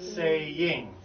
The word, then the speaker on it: saying: to that thought okay here's a hard word because the Y in the middle of the word with the ing makes it possible to just forget the fact that it's actually a two syllable word it's saying saying see